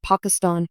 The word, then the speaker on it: Pakistan: response incorrect clarifying that the show's standard pronunciation was Pakistan with a short a sound this decision caused the